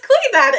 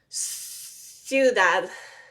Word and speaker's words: ciudad: He said, don't pronounce the last D. He said, just make it really soft. He said, ciudad. Ciudad. Like, super unpronounced last D.